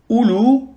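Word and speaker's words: أولو: Ulaika, le ism ishara ulaika, qu'on traduira par cela, ulu, qui a le même sens que sahib, et ulat, qui a le même sens que sahibat.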